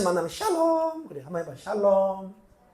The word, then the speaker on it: 샬롬: 샬롬 그래 한번 해봐 샬롬 발음을 잘하세요 다시 한번 샬롬샬롬 앞이 높아요 샬롬샬롬 그렇게 하는 거예 평안하냐 평안 평안 평안을